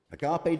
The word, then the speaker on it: agape: It's pronounced in all kinds of different ways, but agape.